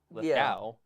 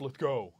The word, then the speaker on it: Lithgow: because there's a W, ow, cow, Lithgow, and then I get roasted. It's Lithgow.